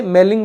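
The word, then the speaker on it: malign: सो वहीं से मेलिंग मतलब गंदे, तो ये वही मलिन है, इसको जी कई बार साइलेंट रखते हैं, तो मेलिंग मतलब गंदे, मलिन।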